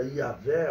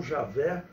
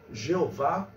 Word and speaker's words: Yahvé: Ele não apresenta o nome de Deus, que se pronuncia Yahvé ou Javé, ou numa transliteração incorreta, Jeová.